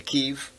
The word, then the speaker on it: Kyiv: Now you have to say Kyiv. It was always Kiev. It was always Kiev. For my whole life, it was Kiev, and then suddenly it's Kyiv because that's like the Ukrainian pronunciation.